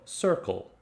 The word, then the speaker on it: circle: one it was so the word circle is really interesting because it actually has both c sounds in it it starts with the soft c the s sound sir and then it ends with the hard c sound so cl so circle circle circle so it's a really